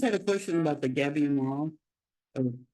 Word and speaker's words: gabion: Gabion is the spelling, and it's pronounced Gabion.